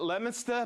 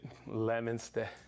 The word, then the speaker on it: Leominster: Dennis and Lucas at Leominster Mass that's how you pronounce it Leominster not Leo Minster okay that's when we